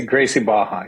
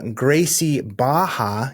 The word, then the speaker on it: Gracie Barra: Baja bar yeah Gracie Gracie Baja yeah you don't pronounce gra Baja nick castiglia uh owner of uh Gracie Baja even though it's spelled with RS in there uh Ottawa barad and